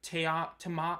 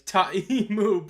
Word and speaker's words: Ta'amu: I mean, like, I get saying it Te'amu, Tiamu, or Ta'amu, but, like, how do you say it Tamamu? How do you get an M twice? Ta'imu, bro.